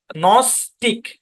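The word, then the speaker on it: gnostic: এই বরাবর ভাগ হবে প্রথম অংশের উচ্চারণে জি সাইলেন্ট নস্টিক কি উচ্চারণ নস্টিক নস্টিক মানে কি যারা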